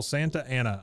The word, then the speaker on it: Santa Anna: only one Santa as he is the only one that pronounces it correctly he says I am General Santa Anna I led the Mexican